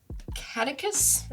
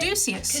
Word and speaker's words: Caduceus: And I will pay 3 for Catechus. Is that how you say it? Caduceus.